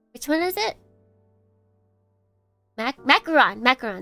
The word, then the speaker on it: macaron: Macaron, not macaroon.